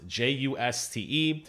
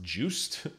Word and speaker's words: Juste: guy named just belmont j-u-s-t-e i've seen his name pronounced juiced and i've seen his name pronounced juste i'm going to call him just maybe that's not the correct pronunciation but that's the one